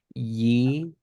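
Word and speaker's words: יצחק: Yeah, that one's an interesting because we want to start it with an I, but here it started with that Y sound. Yitzhak. Yitzhak.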